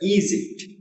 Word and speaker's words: Egypt: And Egypt, the first syllable is stressed, Egypt.